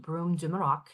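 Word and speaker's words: Brume de Maroc: a fulls sizee retail the broom de morac so it's pronounced broom dumok it actually is a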